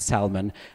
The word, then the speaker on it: salmon: to buy some salmon you should probably pronounce it Salman and then people who understand you better okay because they expect that el okay why well the native varieties do not have the el okay so this is